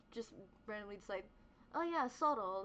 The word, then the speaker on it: Zorro: randomly decide, oh yeah, Soto, like fox in Spanish. It's also fox in Spanish is spelled with the Z. Like everyone says my name as Zoro, so I say it that way because everyone else reads it that way, but it's Soto. Truly, it's it's actually really Soto, right?